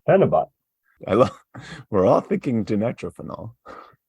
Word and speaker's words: phenibut: great wow and that is exactly how it's pronounced penot I we're all thinking dinitrophenol we we've talked